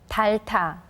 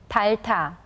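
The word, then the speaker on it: 닳다: Notice that we only hear the 리을 sound in the first syllable, and the 히읗 letter combines with the 티귿 consonant that comes after it to become a tension sound.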